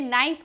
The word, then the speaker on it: knife: जैसे रोमन में नाइफ हम बोलते हैं, नाइफ बोलते हैं तो KNIFE नाइफ लिखा हुआ है, तो नाइफ में क का उच्चारण साइलेंट है, वह सुनाई नहीं पड़ता।